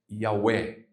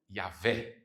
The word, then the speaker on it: Yahweh: Com o tempo, essa pronúncia foi se perdendo e se perdeu. Mas aí também se chegou numa pronúncia, precisava pronunciar esse tetragrama. E se chega numa pronúncia do nome de Deus, que é Yahweh ou Yahvé.